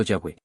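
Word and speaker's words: Yahweh: La pronunciación original se ha perdido con el tiempo. Algunos eruditos creen que podría haber sido Yahweé, pero los judíos dejaron de pronunciar los siglos atrás como acto de reverencia.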